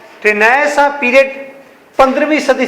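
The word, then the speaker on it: Renaissance: ये लिखा है मैंने रिनेसेंस, REINAISSANCE, अल्लाह माफ करे इतने लंबे भी स्पेलिंग होते हैं। अच्छा, इसका नाम है रिनेसां, इसे पढ़ते हैं रिनेसां।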